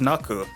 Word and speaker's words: Knack: needed to change, as the Japanese would pronounce Knack as Naku, and the new character in Sonic 3, Knuckles, would end up being Knuckles.